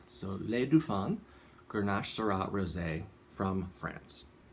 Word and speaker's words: Les Dauphins: with an f and you don't pronounce the s at the end so le du fan grenache sera rose from